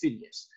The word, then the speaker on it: Pheidias: ever his art works that's Pheidias or sometimes pronounced Phidias the greatest sculptor ever